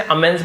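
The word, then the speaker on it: immense: Realising the इमेंस faith her devotee had इन her, realising का मतलब होता है महसूस करते हुए, इमेंस का मतलब जैसे अमेंस पढ़ा जाता है बहुत ज्यादा, उसे अमेंस, अपार कहते हैं ना, अपार अथाह, उसे अमेंस कहा जाता है।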